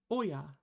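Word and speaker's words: 親: That shin can also be pronounced oya, which just means parent.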